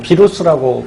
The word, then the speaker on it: 바이러스: 것 같기도 하는데 그 녀석이 누구냐면 바로 이 바이러스죠. 뭐 비루스라고 발음하기도 하고요.